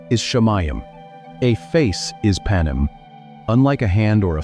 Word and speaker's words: panim: 33, you will find the term panim, pronounced pa-neem. The ending of the word is important.